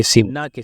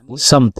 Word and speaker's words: سمت: لیکن سفر ضروری ہے۔ تو آج سے اگر کوئی سمت کو سمت پڑھے تو آپ اس کی تشریح کر دیں کہ یہ لفظ سمت پڑھا جانا چاہیے، نہ کہ سمت، یعنی اس کا صحیح پروناؤنسیشن یا تلفظ سمت ہے۔